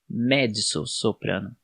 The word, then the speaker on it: mezzo-soprano: E aqui a pronúncia é com DS, D de dado, não com T, mezzo-soprano.